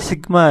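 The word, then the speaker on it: Σ: Jadi kalau ada tulisan seperti huruf E ini bacanya sigma ya.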